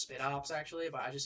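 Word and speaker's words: Spidops: Yeah, it's I think it's pronounced Spit Ops actually, but I just say Spite Ops because it's like I think it's supposed to be like special ops, like special operatives, but that's a spider.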